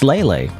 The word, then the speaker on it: Leyley: As it turns out, by the way, so like I said, there's a Q&A here and it's like it's Lelay. What the heck? Lelay isn't lay down.